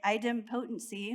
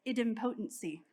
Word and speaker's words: idempotency: schools of thought here the Americans say it idem potency which is the way I remember it the best but the British have corrected me and said it's idiom potency so choose the one